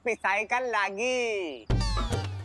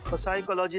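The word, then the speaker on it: psychology: हमारे पापा हम तो प साइ लागी साइकोलॉजी नहीं साइकोलॉजी प साइलेंट होता है तुम हो जा साइलेंट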